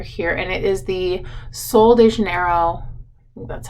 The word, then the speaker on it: Sol de Janeiro: it while you're here and it is the sol de janeiro that's how it's pronounced body wash and it is if you've